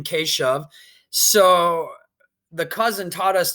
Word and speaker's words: Keshav: I know with our family, it was hard to pronounce his name, Keshav. So the cousin taught us to pronounce his name by saying K shove, like K push.